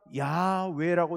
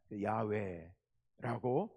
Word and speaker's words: 야훼: 쓰임새를 연구하고 종합해 보니까 야외라고 읽었을 것이 거의 확실해 보인다. 여기에 지금은 거의 모두가 합치되어 있습니다. 통일되어 있습니다. 야외라고 읽습니다.